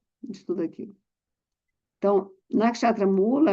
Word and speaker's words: Mula: Mula em sânscrit significa raiz. M O o o L a. Raiz se pronuncia mula.